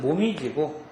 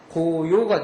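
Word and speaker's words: 紅葉: 모미지는 말도 단풍이라는 의미입니다 조금 더 일본 틱한 그 발음은 모미지 한자 틱한 음은 고요가 되겠습니다 두 개 다 기억을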